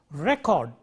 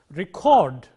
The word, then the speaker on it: record: used as a verb record stress on the first syllable as a noun record stress on the second syllable used as a verb